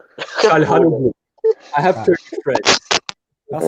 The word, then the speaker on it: Çalhanoğlu: Çalhanoğlu. I have Turkish friends. That's that pronunciation was A1.